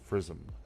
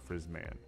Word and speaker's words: Frizzm: Now, say my name. It's Frizzm. F-R-I-Z-Z-M-M-M. 2 Z's, 3 M's, no A, no N. Frizzm, not Frizzman.